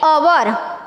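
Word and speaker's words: hour: यहाँ पे है एन ओवर, यहाँ ओवर का जो स्पेलिंग है वो एच से स्टार्ट होता है, लेकिन जब भी हम उसका उच्चारण करते हैं तो हम ओवर ऐसे नहीं बोलते, ओवर ही बोलते हैं। तो ये साइलेंट एच है।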